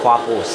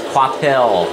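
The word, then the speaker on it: Kvapil: Yeah, people keep thinking I mispronounce Travis Quapple's last name. I've been saying it right. I hear it on TV, and I'm right. And yet they keep saying that it's Quapel or Quathle.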